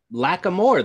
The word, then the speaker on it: Lackamore: had to triple check it's like lack of more though that's how we say it right that's how he says it that i it's invisible to me all right what movie